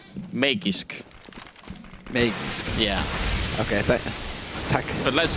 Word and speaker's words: Magisk: Magic Boy. Man, it's harsh. It's hard not to be harsh in this situation as well. Or at least it's pronounced Magisk.